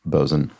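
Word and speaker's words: bo'sun: are maintained no um it is always pronounced bzen and as soon as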